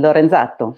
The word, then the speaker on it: Lorenzato: I think it's Lorenzato. I hope I'm saying it right. Am I saying it right, Halli? Absolutely. It's Italian. Lorenzato.